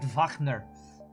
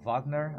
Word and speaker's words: Wagner: r d is rard Vagner I think would be how Germans would say Richard Vagner uh Richard Richard Wagner how Americans say it